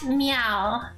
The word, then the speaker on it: Miao: do back Dodges next me meow although it's pronounced like cat meow but yeah okay and